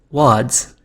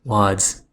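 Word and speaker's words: Łódź: chat Fred BGC informs me that LS is pronounced wads at least that's why I'm reading wads and from now on until I'm corrected again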